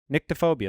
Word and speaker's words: nyctophobia: Neck? It's NYCTO, nyctophobia. That's how you pronounce All right, sure.